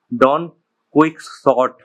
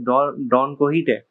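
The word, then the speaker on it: Don Quixote: because when I first read the title, I thought it was Don Quicksort. What the hell? Yeah, but it's pronounced as Don Kohite.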